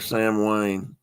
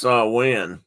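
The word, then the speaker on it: Samhain: is Sam Sam it's s San Juan or Sam Wayne no so in it's actually pronounced sa win and uh but it's another end of the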